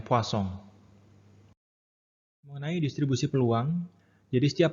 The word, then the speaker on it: Poisson: dan yang ketiga adalah distribusi Poisson atau dibacanya sebenarnya Poisson.